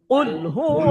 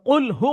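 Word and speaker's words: قُلْ: কি উচ্চারণটা কুল মানে মোটা করে পড়তে হবে হ্যা হ্যা হ্যা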